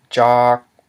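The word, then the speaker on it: ຈອກ: We have the mid-consonant j plus a long vowel ah and a dead syllable k, which equals a low tone. So by reading this word, we know that it is produced with a low tone.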